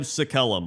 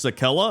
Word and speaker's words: Sakellum: And number 1 is the Scribe Sakellum, which is actually pronounced Sakella. I didn't know that.